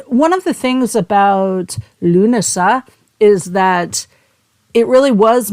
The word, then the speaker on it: Lughnasadh: the metaphysical or lunasa as we pronounce in English or llamas depending on